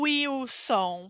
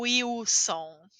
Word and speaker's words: Wilson: e o som o Wilson porque letra w quase sempre tem som de u e a letra L não tem vogal então eu falo como é como u também o Wilson muito louco né a